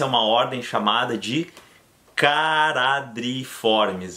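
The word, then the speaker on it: Charadriiformes: uma ordem chamada de karatê triformis lembram na pronúncia o ch a eu não vou falar chá eu vou falar ca cará Dri né dois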